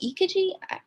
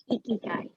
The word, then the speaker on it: ikigai: two can really be combined because I always pronounce it wrong too. Is it Ikaji? Ikaji, Amanda? Ikigai.